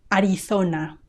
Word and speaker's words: Arizona: In Castilian Spanish, in my accent, we say th when there is a z. Arizona, Arizona.